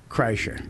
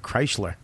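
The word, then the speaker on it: Kreischer: Well, Bert Kreicher. Thanks. And that's how you say it. I used to call you Bert Kreisler.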